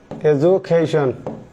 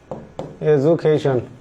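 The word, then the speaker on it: education: এডুকেশন ডি এর উচ্চারণ জ এর মত হবে। ঠিক আছে? এজুকেশন। এজুকেশন।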